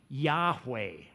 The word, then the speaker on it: Yahweh: was a special name for God it was pronounced Yahweh except God's people didn't pronounce it the Israelites